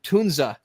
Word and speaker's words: Tunza: and Roger from as they corrected our pronunciation Tunza is how you say it Tunza um yeah